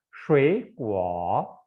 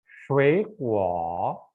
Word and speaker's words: 水果: Nada ketiga yang pertama ini kita bacanya menjadi nada kedua. Jadi kita bacanya shui kuo, shui kuo.